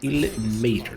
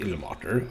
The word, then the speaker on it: Ilmater: kind I suppose also again ill maor not ill Mar I always forget because